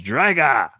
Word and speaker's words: Drago: how he does Drago it's drga like with in Russian with like an O at the end they always say it like an A and I don't know